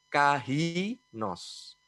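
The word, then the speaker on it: καινός: di bahasa aslinya itu namanya Kai Nose atau kalau bahasa bacanya Kyle Nose artinya Apakah inos ini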